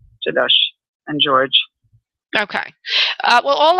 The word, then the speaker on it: Gjelosh: And how do you pronounce that again? Jadosh.